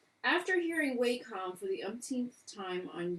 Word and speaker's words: Wacom: technology and other products, says Wacom is actually pronounced Wacom as indicated by their support lines recording, though uneducated people pronounce it Wacom or Wacom, which are just wrong.